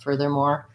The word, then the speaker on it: furthermore: exaggerated fur they're more it does have first syllable stress but furthermore the whole thing is rather rapid so as long as you're not doing further more with a heavy emphasis on the last syllable i think you'll get away with some being somewhat even across those syllables so locate and furthermore